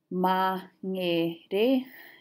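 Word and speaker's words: Māngere: Mangere is what I've heard. So you can see there's a tendency to split after a consonant, but in Māori, mangere. And the same in Aotearoa. So they split the syllable sound after the vowels.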